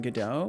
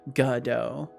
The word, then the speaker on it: Godot: Godot. Capital equals stress syllable. Godot. Godot. I see. I kind of lazily pronounce it as Godot. I just kind of like merge the words.